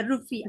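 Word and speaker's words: rufiyaa: they call it as rufia or something like that, I think so, rufia bolte Yes, hain, ma'am. हाँ It's हाँ हाँ हाँ but they rupiah. Rupiah. yeah, rufia, हाँ।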